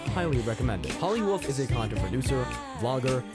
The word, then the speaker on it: Holly Wolf: topic for today is holly wolf which rhymes with Hollywood this may or may